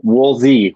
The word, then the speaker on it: Wolsey: your name wrong but it's woolsey is that right or wool yeah wool z wool z yeah yeah it's a